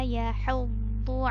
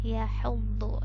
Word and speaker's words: يحض: Ini huruf dhu ya, bukan dal, bukan d biasa, tapi dhu. Dia agak tebal bunyinya daripada huruf da. Hati-hati terbacanya menjadi huruf da.